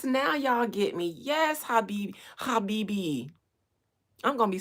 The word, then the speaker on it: Habibi: Yes, Habibi. I'm gonna be saying that forever. Habibi. I know I said it right because of yes. You hear the guttural throats.